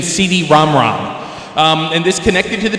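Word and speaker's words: CD-ROM²: 2, which was actually it was supposed to be pronounced the PC Engine CD-ROM-ROM.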